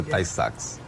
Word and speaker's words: Tay-Sachs: A pronúncia é Tay-Sachs.